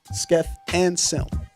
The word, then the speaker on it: Skeff Anselm: I've just been told we've been pronouncing it wrong this entire time. So just to make the correction to hip hop on note, Skeff Anselm.